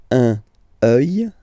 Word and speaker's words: un œil: Un œil, un œil, un œil. Des yeux, des yeux, des yeux. Yeux, okay? Don't pronounce the final X as usual.